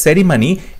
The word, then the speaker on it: ceremony: এরপর যেটা আছে সেরিমনি, এখানে CERI আছে, CERE আছে, ARC অপশনে। সঠিক উত্তর হবে অপশন সি, সেরেমনি, CERE।